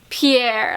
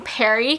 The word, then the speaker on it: Pierre: don't know what it is like pierre like i i feel like i have to say it with an accent because that name just sounds like it deserves a person with an accent to pronounce it but i just i can't imagine his name being perry cause no offense to